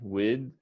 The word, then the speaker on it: width: okay so you're going to say with wid width with and then a th uh but the